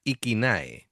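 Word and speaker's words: IKINÄ: Bueno, la lo que es la banda se pronuncia Iquinae, ¿vale?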